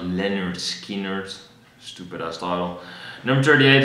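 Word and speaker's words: Lynyrd Skynyrd: Then we have 41 with Boston by Boston, 40 is Marky Moon by Television, 39 is pronounced Leonard Skinner, stupid ass title.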